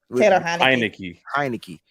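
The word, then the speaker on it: Heinicke: you say his name hi Nikki right like Heineken yeah so Tyler heinecke right so you're going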